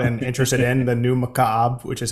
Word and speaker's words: Mukaab: The new Mukaab, which is how you say it, also fun to say.